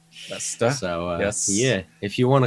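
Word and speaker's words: Leicester: be in leester UK I believe pronounced leester so yeah if you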